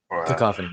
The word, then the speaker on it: Cacophony: Cacophony, yeah, you said it right.